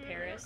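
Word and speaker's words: PVRIS: that well known but it's spelled PV r i s but they're called Paris a couple good ones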